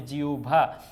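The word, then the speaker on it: জিহ্বা: এই হ এর সাথে ব আছে এজন্য হবে জিউভা তার মানে হ প্লাস ভ প্লাস ব যদি হয় সেটার উচ্চারণটা ভ এর মত হয়ে যাবে ভ এর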